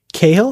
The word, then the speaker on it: Cathal: Okay, the T is silent. Cahill? Yes.